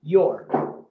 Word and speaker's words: you're: Y esto ahora se pronuncia your.